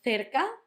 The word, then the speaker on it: cerca: Second one was cerca. Cerca had the th, the soft one, the th at the start with the th and ca at the end.